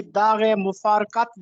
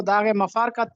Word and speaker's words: داغ مفارقت: زین العابدین عارف بھی داغ مفارقت دے گئے۔ اکثر لوگ اس کو داغ مفارقت پڑھتے ہیں، جبکہ یہ درست تلفظ ہے داغ مفارقت دے جانا، راہی ملک عدم ہو